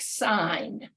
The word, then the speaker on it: sign: pronunciation may change so take a word like sign somebody might say well why would that have why is that g there well when I say signify or signature then I actually hear the